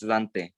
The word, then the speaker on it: Dante: but like english people like in america they do say dante yeah and that's wrong it's dante i know i know